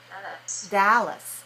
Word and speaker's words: Dallas: she's in Dallas okay look at me when I say this word this is the name of a place right d-a-l-l-a-s how many syllables in the word Dallas two where where's this dress um that is um Dallas first syllable okay so which syllable is clear right watch the sound okay what about the second syllable Dallas um week one what